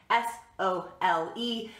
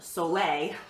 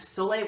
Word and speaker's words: sole: about Soleil water itself Sol but pronounced Soleil like the Sun Soleil water to use to